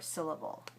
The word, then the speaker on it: syllable: example that shows you how syllable, the first one is clear, si, and the second one weak, l, b, syllable, syllable. Syllable. So if you listen carefully, you'll be able to hear that the second and the third syllables in this word are much shorter, and they are not spoken with a great deal of stress.